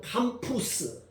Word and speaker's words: campus: 발음은 캠퍼스인데 캠푸스, 라틴어로 캠푸스.